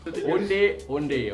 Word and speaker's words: onde-onde: Okay, so the pronunciation for onde-onde is onde-onde, okay?